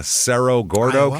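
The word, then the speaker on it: Cerro Gordo: Who knows how they pronounce in Idaho, but uh Sero Gordo County.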